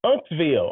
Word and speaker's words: Uncasville: And they, Uncasville. I'm like, oh, okay, I'm good. Like your uncle, Uncs.